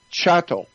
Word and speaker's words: chattel: in a dictionary it's spelled c-h-a-t-t Chateau not cattle like a bull but chattel and chattel um simply